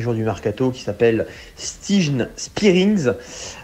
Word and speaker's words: Stijn Spierings: du mercato qui s'appelle Stijn Spierings. D'ailleurs, ça se prononce Stijn Spierings, qui a joué depuis son arrivée 3 matchs, qui joue en numéro 6 et qui a marqué 3 buts.